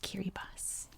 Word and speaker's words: Kiribati: have the letter s so anytime you see a t i together that's an s sound so that is how this country's name is pronounced kiribati as you can see kerry boss is a series of